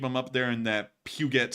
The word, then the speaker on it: Puget: pugot sound interesting I it's not pronounced that way I don't know how it's pronounced but it's not pugot uh but anyways yeah it's Puget or something like that but but